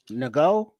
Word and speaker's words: Ngo: Nago. Go. How do you pronounce that? You the N is silent.